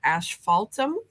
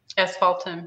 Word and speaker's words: asphaltum: Pat is asking about a fourth color, and I don't know how to pronounce it. Asphaltum. Asphaltum, yeah.